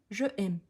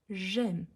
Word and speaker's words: j'aime: elle fait l'illusion mais elle dit je aime non quand il y a l'illusion on prononce comme un seul mot j'aime j'aime tu aimes tu